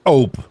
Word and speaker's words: ope: Let's start with op. Pronounced like hope with the h dropped.